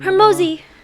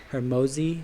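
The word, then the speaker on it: Hormozi: Hermosi. Hermosi. It's spelled Hermozi.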